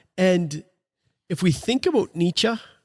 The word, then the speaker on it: Nietzsche: And if we think about Nietzsche, right?